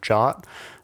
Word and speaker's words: JWT: defining tokens like JWT which is pronounced like the English word jot um there's also other